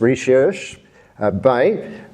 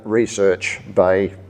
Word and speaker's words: Recherche Bay: to the south as Recherche Bay, which is indeed the French pronunciation. But as an old-timer from the Huon, it has only ever been Recherche Bay to me.